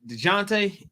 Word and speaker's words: Dejounte: DeJounte.